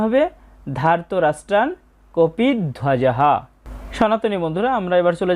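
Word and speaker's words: কপিধ্বজঃ: কপিদ ওয়াজাহা এখানে আমরা একসাথে যদি বলি তাহলে হবে কপি ধ্বজাহা। তাহলে পরের চরণটার উচ্চারণ হবে ধার্তরাষ্ট্রান কপিধজাহা।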